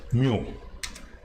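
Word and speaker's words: μ: it's a greek symbol it is termed as it is pronounced as mu so this is the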